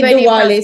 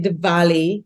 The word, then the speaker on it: Diwali: How do you pronounce it? Right. Because some say Diwali, some say Diwali.